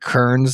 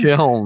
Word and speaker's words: Kiln: tell us how great Kern's going to be and that we were wrong about it. You said the name wrong every time. What is it? What is it again? Kiln.